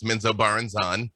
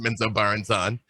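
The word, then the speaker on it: Menzoberranzan: with bob salvatore which was tremendous um to pronounce the the trail city is menzo baranzan which is that's a thing now didn't know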